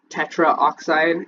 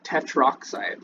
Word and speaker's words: tetroxide: Tetraoxide, it's tetroxide. So like you'll see that down here, but it would be tetroxide. Maybe it is spelled tetraoxide. Tetroxide. No, it is tetroxide.